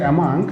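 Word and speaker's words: among: হচ্ছে বিটুইন হচ্ছে আমাদের একটা প্রিপোজিশন ভার্সাস অ্যামাং, উচ্চারণটা হচ্ছে অ্যামাং।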